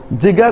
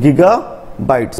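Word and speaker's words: gigabytes: बाइट्स और जीबी बाइट्स आपको जिगा कह जिगा इज रंग प्रोनाउंसिएशन आना कौन गीगा बाइट्स 1 GB equal to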